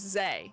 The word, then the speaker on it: Xe: This is Zay. Yes. Yeah. XEM is Zem. XE is Zay, because we're pronouncing the E as an A almost.